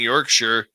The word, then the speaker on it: Yorkshire: When saying Yorkshire or any other county in the UK with Shire, pronounce it sure instead of Shire, as it hurts my UK ears.